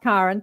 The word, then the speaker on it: Karen: It's pronounced Karen, spelt like Karen.